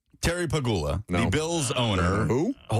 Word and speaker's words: Pegula: No, you're you're very much emphasizing the peg. Pigula. Pigula. I don't even remember how to say it correctly. Okay. Terry, you piggula. The bills owner. That's Look at it now. He's scared. Say it the same way. Say it like the dog. Like pagula.